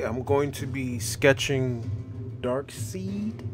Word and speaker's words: Darkseid: going to be sketching dark seed or dark side however you want to pronounce it but it's really dark seed and um yeah i'm